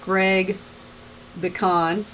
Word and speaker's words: Pecan: Also, thank you guys for tuning in to Minnesota Ghost Box last night with Greg Pecan. I said it right. Just think of pecan, and it's pecan.